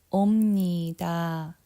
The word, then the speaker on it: 옵니다: 옵니다. Okay, notice when I say 옵니다, I pronounce with the M sound, not B sound.